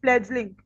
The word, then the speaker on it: fledgling: fledgling. D is silent, fledgling.